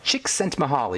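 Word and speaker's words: Csikszentmihalyi: His name is pronounced chicks sent mahali.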